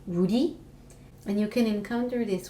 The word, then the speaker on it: 우리: So the first thing that I would like to share with you is the word for we, and it's pronounced 우리.